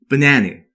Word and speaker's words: banana: 두 번째 단어인 바나나의 경우 발음 기호를 보시면 A가 처음과 마지막은 슈아 발음, 즉 로 스치듯 발음되고 중간 A만 강세를 받아서 AE 발음, 즉 라고 정확히 발음되죠. 그래서 전체를 합치게 되면 banana 라고 발음하시거나 발음을 조금 살려주신다면은 banana 라고 발음하시면 되는 겁니다.